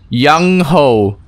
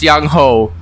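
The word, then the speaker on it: Yang-ho: long okay here goes young ho i hope i'm pronouncing that right young ho my name is yang ho no my name is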